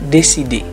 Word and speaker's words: décider: Lalu ada juga " décidé", yang ditulis sebagai "décider" tetapi dibaca "décidé".